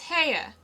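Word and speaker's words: Haigha: happy his name is haa he pronounced it so as to rhyme with mayor I love my love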